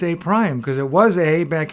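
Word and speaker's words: A′: an apostrophe where a the apostrophe is is pronounced a prime that little prostop means so we call that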